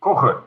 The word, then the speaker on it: Koch: Johan's surname, is it Koch? Is that his surname? My name is Koche. You pronounce it Koche, but it's difficult.